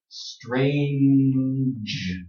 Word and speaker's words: strange: Strange, strange. So at the end, we have the j sound, something like this. All one syllable.